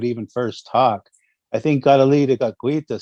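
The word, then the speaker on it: Kateri: that is, that's Saint Catary. Yes. But you use the Mohawk pronunciation, Gadali de Gaguitha.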